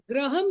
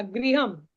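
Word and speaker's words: गृहम्: ने कहा था बालूका ग्रहम ग्रहम नहीं होगा गृहम वो उच्चारण को ध्यान देना है क्योंकि थोड़ा सा अंतर से उसका अर्थ ऊपर का आसमान का ग्रह हो जाएगा।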